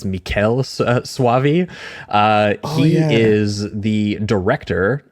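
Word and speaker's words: Michele Soavi: him cuz I think I was always calling him Michael or Michelle. It is Mikuel Suavei.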